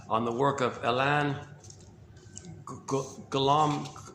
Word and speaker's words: Golomb: the work of Elan Golomb. It's either Golomb or Golomb, however you pronounce Golomb. I'm pretty sure the B is silent.